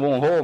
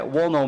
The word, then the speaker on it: Wonho: Aliás, gente, eu disse no vídeo passado que eu vou continuar pronunciando honrou, mas acho que o certo é Wonho mesmo.